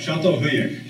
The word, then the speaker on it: Çatalhöyük: Did you say that, I still can't pronounce the word, Catalhoyuk? Could all try it. Çatalhöyük. Çatalhöyük.